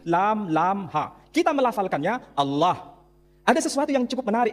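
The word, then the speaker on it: الله: Tidak ada seorang pun di kalangan masyarakat Timur Tengah ketika menjumpai istilah alif, lam, lam, ha, dibaca Allah. Tetapi mereka serempak menyebutnya dengan pronunciation Allah. Menyebut dengan sebutan Allah.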